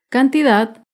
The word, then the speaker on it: cantidad: es la palabra cantidad cantidad se acentúa en la última sílaba pero no lleva tilde porque no termina ni en vocal ni en las consonantes n o s cantidad las palabras graves también